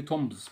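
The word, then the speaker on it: tombs: تومز مقابر، مش حدش يقول لي تومز، ما في البي ام لما يجي بعدها بي قلنا البي ما تنطقش، بس ما هي تومز يعني مقابر.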